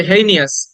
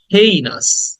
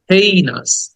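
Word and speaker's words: heinous: ইজ হেইনাস আমরা বলি এটাকে হিনিয়াস অনেকে বলে হেইনিয়াস না শব্দের উচ্চারণ হবে হেইনাস খেয়াল করো হেইনাস একটা হ দেন এই হেই নাস হেইনাস হেইনাস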